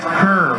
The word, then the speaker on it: Kerr: Jeff Kerr for the Raiders. Outstanding linebacker. He's definitely, we understand, a Division I prospect. Carr is the way you pronounce it.